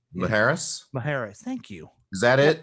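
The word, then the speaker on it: Isla Mujeres: Maharis. Thank you. Is that it? I think that's the J is an H, right? Yeah. Like Jose or jalapeno.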